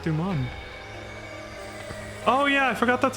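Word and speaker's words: Deuman: This must be the patch where they added the Doom race. It's the mark of any Doom. Look, my eyes are even different colors, too. Excuse me. It's pronounced Duman.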